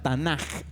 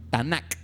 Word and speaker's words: Tanaj: Ahí lo escribí como se pronuncia, Tanaj, pero en realidad debería ser una K, Tanaj, pero la K se pronuncia como J en hebreo, el Tanaj.